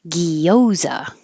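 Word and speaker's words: guava: it correctly but um there are people that make it very um clear that it's three syllables uh guoa if you look it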